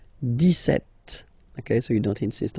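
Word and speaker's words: dix-sept: okay so it's clear but then for the pronunciation deset okay so you don't insist on the deset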